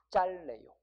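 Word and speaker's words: 짧네요: 얘는 짬내요가 아니라 뭐예요? 짤내요. 바지가 짤내요.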